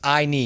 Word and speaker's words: Ayni: it's i need so i put the pronounced i knee your eyeball on your knee um that was my